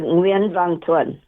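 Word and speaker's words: Nguyễn Văn Thuận: Before I go any further, how do I pronounce his name? Um French Xavier Nuen Vantoan.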